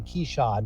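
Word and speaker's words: Keshad: Keyshawn Johnson now keyshot it's k-e-s-h-o-d but he pronounces the Keyshawn Johnson Keisha Johnson's a transfer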